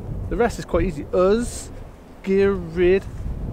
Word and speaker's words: Ysgyryd: Welsh name is Oh spirit the why is pronounces our earth the rest is quite easy earth gear read VAR o 1f is a VAR sound we've